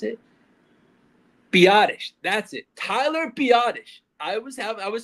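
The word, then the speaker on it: Biadasz: Tyler Biottish. I was have I was saying badass so much on last episode. It's Tyler Biottish. the center. That is his name. It's Tyler Biottish. Not badass.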